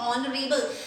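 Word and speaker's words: honorable: क्यों दी प्रोनाउंस करेंगे, क्योंकि जो ये इसको प्रोनाउंस क्या करना है हमको, ये ऑनरेबल, इसका जो H है वो साइलेंट है, इसको हम प्रोनाउंस करते हैं ऑनरेबल।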